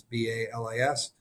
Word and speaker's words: Balis: It's kind of looks like it's spelled like basil, but it's Balis.